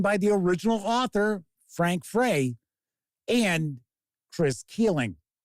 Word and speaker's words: Frey: This new and updated supplement is written by the original author, Frank Frey, and Chris Keeling. It might be Frank Fry, because I have seen the spelling of his last name pronounced Fry, F-R-E-Y.